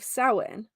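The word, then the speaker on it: Samhain: back to the ancient Festival of sowin um if you if you happen to read this in my blog or see this word even by Googling it's s-a-m-h-a-i-n but it is pronounced sowin it was celebrated by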